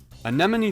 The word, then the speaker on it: Anemone: the dumb one or is the name of this app literally based on the plant in the sea you know like the